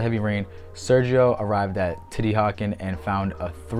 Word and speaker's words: Teotihuacan: Last up for this half is liquid mercury in Titihakan. And don't even get mad at me if I say this wrong, because I got Google Translate right here telling me this is how it's said. Titihakan.